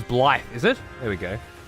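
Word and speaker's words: Blaidd: Is that Blade's pronunciation? Blade is Blythe, is it?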